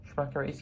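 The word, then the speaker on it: Schmackary's: Schmackery's? Yeah, that is how you pronounce it.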